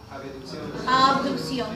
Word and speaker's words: abducción: Abducción. No, la palabra correcta como se pronuncia es abducción. No es ave.